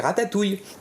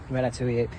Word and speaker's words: ratatouille: In English, we say ratatouille. At first glance, it would seem that the stressed syllable is the first one, rat, as to say rat, ratatouille.